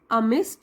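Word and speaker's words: amid: उछाल लगाई how ever अमि डी साइलेंट है अमि द एक्साइटमेंट एंड न्यू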